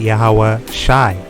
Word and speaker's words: YAHAWASHI: is ya i this is letter this letter is sha this is i so you would pronounce it yahawah shy all right i like